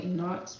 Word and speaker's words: Enoch: And I'm just like, bro, like, how, even, like, Christian people, I'm like, how you could say Enoch in the Bible, But you can't say my son's name, Enoch.